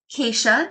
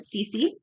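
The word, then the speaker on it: Keesje: But I heard from Brenda, the sampler stitcher, who heard from Jacob, who's actually Dutch, that you pronounce it Keisha, not Cece.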